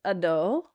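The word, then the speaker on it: adho: Um, so it is a short a. So it's ado ado a ado ado.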